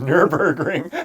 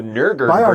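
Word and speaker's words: Nürburgring: also specs like nurburg oh man nurburgring i actually said it wrong it's in my mind wrong the nurburgring we should put a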